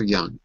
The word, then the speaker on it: young: He looks so young. Excellent. He Well, it can't be. He looks so young. sounds good. Just be careful with the j. There's no j.